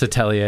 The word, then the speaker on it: atelier: everyone does yeah it's atelier it's like yeah it's a french word okay it's just like